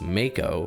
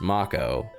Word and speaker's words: Mako: that were used like Mako I called this Mako for over 20 years with no external context to verify the correct pronunciation the same goes for character names and